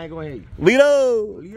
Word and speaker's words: Lito: L-I-T-O, but T is pronounced with a D. So, Lito.